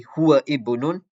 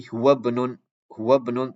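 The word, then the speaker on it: هو ابن: Example over here, you don't say huwa ibnun, you say huwa banun, because this hamza is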